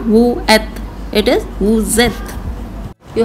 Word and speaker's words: vous êtes: When merged it makes the z sound like nous avons, ils ont, vous êtes. You did it in the être verb vous êtes. It was not vous êtes, it is vous êtes.